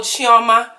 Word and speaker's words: Chioma: no idea to start off my name is Charma okay a lot of people always want to talk about how I say my name um I know how to say my name okay I'm will chiama I am Lord okay now I got